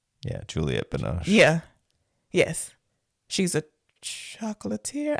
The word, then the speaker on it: Juliette Binoche: That has Johnny Depp and not Anne Benoist, Juliet Binoche. However you say her name. Anne Benoche? Yeah, Juliette Binoche.